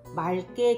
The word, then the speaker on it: 맑게: 때는 그냥 막다입니다 그런데 하늘이 맑게 개었다 할 때는 맞게 되었다가 아니라 맑게 되었다 해서 앞에 있는 리을로 소리가납니다 그렇게 발음하는 것에 대한